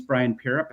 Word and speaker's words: Brian Pierrepont: So if you're Instagram I'm you know my name's Brian Pierrepont and I use @BrianPierrepont.